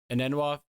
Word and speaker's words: Enunwa: I've always been a big an Enunwa. Hang on a second, Aaron. How do you pronounce the last name?